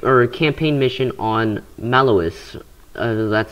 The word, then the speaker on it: Maloss: playing a camp or a campaign mission on mellowest that's how you pronounce it um but yeah let's just launch